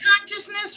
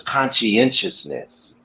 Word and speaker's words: conscientiousness: consciousness wrong? Yeah, so it's conscientiousness.